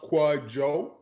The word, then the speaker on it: Kwadwo: Kwadwo. Did I pronounce that correctly? Please say yes. You're killing it. The first name's pronounced Kwadwo, but the DW is like a J.